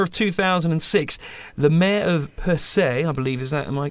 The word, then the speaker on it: Percé: And during the summer of 2006, the mayor of Percé, I believe, am I pronouncing that correct?